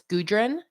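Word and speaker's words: Gudrun: not cherry um my mom's name is a little tough It's gudrin g-u-d-r-u-n um Celtic peasant AKA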